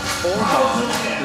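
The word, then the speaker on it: Åhman: One of their countrymen sent me a message and said it's more like Oman is the pronunciation on that, on David's last name. So I'll correct that. Next time they make a great play, Oman.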